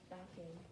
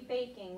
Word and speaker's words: baking: Okay, there would be a silent E at the end because I took off the E before I added my ING. So it wouldn't be backing, it would be baking.